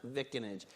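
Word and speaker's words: vicinage: that's in new jersey that's definitely pronounced vickinage i'm told there's an alternative pronunciation of this image but i am not clear on that without who's but we'll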